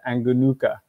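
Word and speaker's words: Angonoka: By the way, if you are in North America and you think I'm saying these O's oddly, it's because I am. The O in Malagasy is pronounced as an U, as in the wonderful drink, Yoo-hoo.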